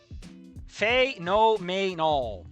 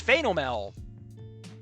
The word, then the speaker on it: phenomenal: It is phenomenal. So you're actually missing a whole syllable there, buddy. It's phenomel.